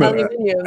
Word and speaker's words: aluminium: Oh, yes, not aluminium. Aluminum. Aluminium. You pronounce it aluminium.